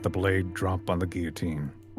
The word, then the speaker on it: guillotine: To let the blade drop on the guillotine. Is that how you say it? Guillotine. Yes. But there's a double L there. Yeah, it's French.